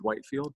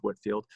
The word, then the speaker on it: Whitefield: is george whitefield and i know it's spelt like george whitefield but it's actually pronounced george whitfield and we call him